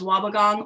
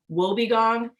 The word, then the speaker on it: wobbegong: but people have made it's either pronounced wobbegong or will be gone and people have made